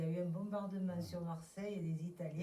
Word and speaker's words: Marseille: Moi, je dis le Gers parce qu'à Marseille, on prononce toutes les lettres.